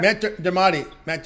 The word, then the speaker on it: Matt Dermody: Matt Dermody.